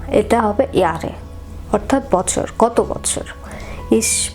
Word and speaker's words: Jahre: একটি বিষয় এখানে জার্মান ভাষায় জে কে ওয়াই উচ্চারণ করা হয়, অর্থাৎ আপনি ইয়ারে কে জাহারে দেখবেন ইংলিশে JAHRE, কিন্তু এটা জাহারে না, এটা হবে ইয়ারে, অর্থাৎ বছর, কত বছর।